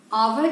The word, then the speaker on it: hour: करते हैं जिसे हम, इसमें स्पेलिंग हमारी H से स्टार्ट हो रही है, लेकिन जो इनिशियल साउंड है वो आ है।